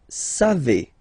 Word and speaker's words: savez: Then vous savez. Classic ending for vous, E-Z, but then phonetically it's E. Vous savez. Savez.